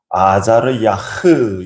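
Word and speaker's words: עֲזַרְיָה: 될 수 있는데 그러니까 앞에 나오는 아사리아 뒤 끝부분이 흐로 끝나고 뒤에 있는 아사리아 뒷부분의 발음이 후로 끝납니다 우 발음으로 끝나는 거죠 아자리야 후 그래서 혼자서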